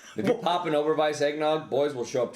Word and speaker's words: Oberweis: Like, hats off to Overweiss for whatever the fuck. Yeah, right. And he threw in the German pronunciation. Look at that, Oberweis. That's a W, not a V.